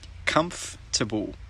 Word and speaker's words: comfortable: Comfortable.